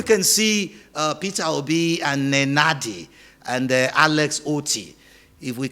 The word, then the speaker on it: Nenadi: Nenadi. Okay, I have to use my nose to speak here because you can't enunciate her name if you have to use your other speech organs except you try to be nasal.